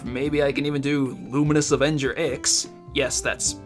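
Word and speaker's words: Luminous Avenger iX: And after that, maybe I can even do Luminous Avenger X, yes, that's how you say it, and possibly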